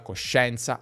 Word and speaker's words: coscienza: No, parlo della I in parole come scienza, coscienza, ma non conoscenza, efficiente, sufficiente, specie, superficie, cielo. E so bene che c'è una spiegazione etimologica per queste I mute, ma è davvero necessario mantenerle se, uno, non si pronunciano, due, non hanno una